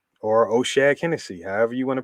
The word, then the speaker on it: O'Shaughnessy: the one time with my man uh james o'shaughnessy or oceanic hennessy however you want to pronounce it um you know i'm rolling with them this week at 2 700.